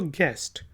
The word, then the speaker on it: guest: You silent है तो गेस्ट, मेहमान को कहते हैं, और इसी से निकला है गेस्ट हाउस, गेस्ट हाउस।